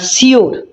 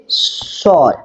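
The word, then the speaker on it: sure: এই যে এই যে একটা শব্দ এই শব্দটার উচ্চারণ সবাই কি করে না সিওর ঠিক আছে এটা বলে কিন্তু সিওর এটার সঠিক উচ্চারণ নয় এর সঠিক উচ্চারণ হচ্ছে সর সর ঠিক আছে তাহলে হি ইজ সর টু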